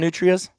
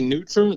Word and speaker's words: nutria: you guys call them nutrias yeah yeah i mean i'll say neutral that's like the local pronunciation but i think if